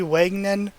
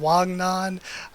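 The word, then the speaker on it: Wangnan: pronouncing it wrong like I always say wagon n' rather than Wang nan which is probably a much better way to pronounce it I've just become so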